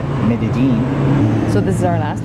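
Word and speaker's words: Medellín: to talk about well the first thing you should know about coming to medigee a local is pronounced Medellin so this is our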